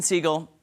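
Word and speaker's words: Segel: Apple TV plus Jason seagull is that how you say it seagull or Seagal I never know yeah seagull and Harrison Ford back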